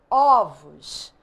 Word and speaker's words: ovos: metafonia mudança de timbre no singular o som é fechado ovo no plural o som é aberto ovos e aí eu trouxe